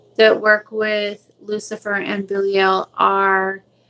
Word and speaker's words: Belial: Belial is the correct way to say his name is Belial.